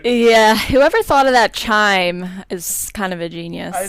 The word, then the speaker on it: Chime: be really interesting is Amazon chime rhymes with Amazon Prime and when I hear